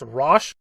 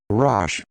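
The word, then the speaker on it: Roche: The new character's name, according to a video I found on YouTube, is pronounced Rosh. Rosh.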